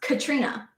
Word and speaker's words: Caitriona: But the thing is, her name is spelled Caitriona, and it's pronounced Katrina.